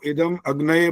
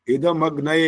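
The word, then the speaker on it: इदमग्नये: वही गलतियां करते जा रहे हो, इदम अग्नये बोल रहे हो, ये नहीं बोलना होता। इदम अग्नये इकट्ठा बोलना होता है।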